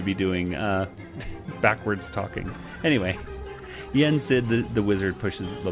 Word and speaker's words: Yen Sid: god what's his name his name's Disney backwards yet sit or so yeah I can't even however pronounce Dizzy's name backwards that's it say it again yes it yen SID yes thank you it's